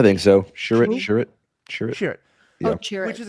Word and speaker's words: Chirrut: Chirrut.